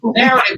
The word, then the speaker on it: Knarrative: Narrative, y'all. Narrative with a K. The K is silent like knowledge.